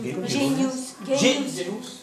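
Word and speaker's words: Genuss: Ça s'écrit pas G-E-N-U-2-S? Comment c'est? Genius.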